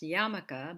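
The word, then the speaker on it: yarmulke: familiar with the yiddish term which is actually pronounced yamaka but it is spelled as you see it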